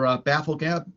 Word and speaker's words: Bafflegab: I mean, I know the first, what was it, 3 or 4 were audio books that were recorded for Bafflegab. Am I pronouncing that right?